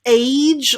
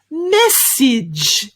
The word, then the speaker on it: message: we have is message definitely is not pronounced age or arge at the end no no no it's an edge sound so we've got mess like a big mess ness each message your turn well done